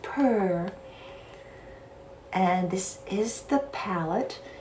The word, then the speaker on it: PUR: maxx this palette barbie by purr or pure i think it's pronounced pure but i love saying it purr and this is the